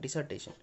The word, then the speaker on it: dissertation: इसका स्पेलिंग थोड़ा देख लीजिएगा, DI से स्टार्ट है, DISSERTATION, डिसर्टेशन। डिजर्ट और स्टेशन से याद रखेंगे।